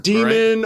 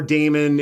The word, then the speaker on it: Daemon: Demon or Damon, it's pronounced whatever.